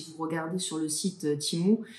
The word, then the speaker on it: Temu: regardez sur le site timu qui s'écrit temu d'ailleurs si jamais vous